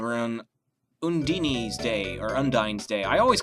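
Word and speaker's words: Undine: on unini day or undy day I always called it undy until a certain game called Tales of Symphonia uh pronounce it unini I'm pretty sure that's the way the Japanese pronounce it too um so I'm just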